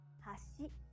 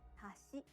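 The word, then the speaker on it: 橋: but if you say hashi it means bridge let's hear the difference again hashi chopsticks hashi bridge in japanese each syllable is basically pronounced with a high or low pitch and each japanese bird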